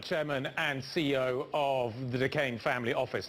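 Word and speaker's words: Duquesne: Stanley Druckenmiller, Chairman and CEO of the Decane Family Office. Turns out the S is silent.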